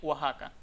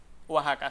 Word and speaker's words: Oaxaca: Sin embargo, la grafía con J también es válida porque esa X tiene sonido de J. En este caso lo el mismo que tiene en Texas y el mismo que tiene Oaxaca. Oaxaca.